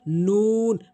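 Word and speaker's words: ن: এরপরে নুন মুখ গোলাকার করে জিহ্বার আগে উপরের তালের সঙ্গে নুন এভাবে উচ্চারণ করবেন।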